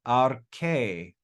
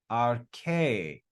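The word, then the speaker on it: ἀρχῇ: This is read arche, arche, arche. That little iota is not pronounced, so you can just ignore it when you're reading.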